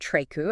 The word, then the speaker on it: Treku: And then there's Treku, Okay. or pronounced Treku, and they have such a rich history in woodworking and craftsmanship.